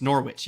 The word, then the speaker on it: Norwich: I get it wrong it's Norwich yes Norwich yeah Norwich Norwich Norwich yeah um with the pronunciation with the product with the English pronunciation yeah if anybody happens